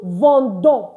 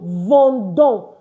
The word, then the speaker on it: vendons: Nous vendons. Please don't forget, it's not vin, it is vend. So nous vendons, meaning we are selling. And of course, you do not pronounce the S.